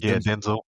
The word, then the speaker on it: Denzel: That's how you say his name apparently is Denzel. Denzel.